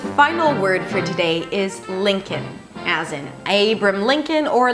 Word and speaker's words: Lincoln: just because there is no L whatsoever at the end. Lincoln.